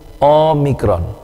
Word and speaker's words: omikron: o Omega yang satu omikron jadi untuk omikron dia lebih tripble o-nya ya omikron Nah Sedangkan untuk Omega itu o-nya itu lebih bass ya Omega Omega ya jadi